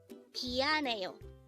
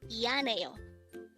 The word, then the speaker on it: 미안해요: 미안해요. 미안해요. This is pronounced as a 4-syllable word. The first syllable is mi, second syllable is an, third syllable is he, and the last syllable is yo.